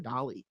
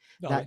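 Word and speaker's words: Dalí: She did an incredible, I don't want to call it a duplicate work, but a tribute to Salvatore Dali. I think I pronounced that right. Dolly, That right?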